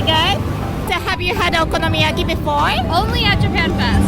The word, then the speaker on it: okonomiyaki: I don't know how to pronounce it right. Yeah, that's perfect. Oh, Yeah, excellent. okonomiyaki.